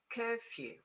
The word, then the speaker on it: curfew: So is curfew. Okay. Curfew. And you know what? Do you know it's it's the curfew. is few. Exactly the same as few.